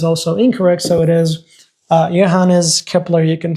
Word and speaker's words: Johannes Kepler: was the name of the scientists sometimes we pronounce it as Johans Kepler but the correct that is okay I believe even though the correct pronunciation is Johannes Kepler you could say and then these scientists Nicholas